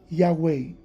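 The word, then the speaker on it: Yahweh: Los rabinos judíos dicen que la pronunciación correcta de esas cuatro consonantes y hh wh o w como dicen por acá en inglés sería Yahwei y en español sería Yad.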